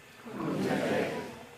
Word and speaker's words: Kung Jaadee: Kung Jaadee. Kung Jaadee hinu had kith kadikya. So my Haida name is. Can you all say Kung Jaadee? Kung Jaadee.